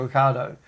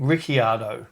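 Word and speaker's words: Ricciardo: Daniel Ricardo, if you ask him what's his name, he says Daniel Ricardo. And about onethird of the F1 presenters call him Rickardo.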